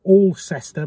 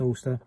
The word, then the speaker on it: Alcester: back i need to stop at ulster or all sester but it's pronounced ulster um and i think